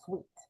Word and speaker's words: Sweatt: I think it's pronounced Sweet.